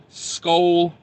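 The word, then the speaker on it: Skol: If you're on the road and you want like a good sit-down meal, that Petro in Albert Lee, the Skull Bar, it's spelled S-K-O-L, Skull.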